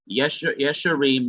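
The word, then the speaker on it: ישרים: Yesharim, notice that there is a simple schwa under the consonant yod, because it's a regular consonant and it's not a guttural consonant. So the simple schwa is written under the yod. Yesharim means upright men.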